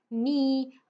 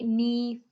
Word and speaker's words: knee: So I'll just give you a few more seconds to tell me which letter is silent in each of the words, okay?